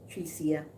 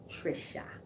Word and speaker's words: Trisha: call me trick guy people call me tree SIA my name is Trisha Trisha yeah not treat yeah so if you thought you knew my name you didn't say it right cuz it's not true yeah it's Trisha just Trisha I am still here